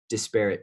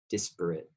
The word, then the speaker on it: disparate: it intentional discrimination i i prefer disparate treatment that's that's how you pronounce it some people say desperate anyway it's disparate treatment